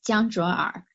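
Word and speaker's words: 江卓尔: top mining pool founder, I think I always mispronounce his name, but I believe it's Jiang Zhuoer. Is that right? Yes, Jiang Zhuoer.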